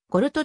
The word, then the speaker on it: Gold: のフィギュアスケート選手ゴールドはドイツ語でポルトと読みドイツではゴールドマン